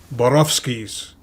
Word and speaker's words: Borowski: neon arrow that said Borowski's. If you're Polish, that's how you pronounce it.